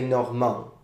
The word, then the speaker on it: Normand: Now, it's true that in French, now you say Normand with a little D at the end. In old French, you would spell it with a T at the end, but the sound is still the same.